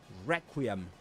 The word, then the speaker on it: Requiem: In both pronunciations, however, you do the main accent, the accented syllable is the first one, re, Requiem, and Requiem.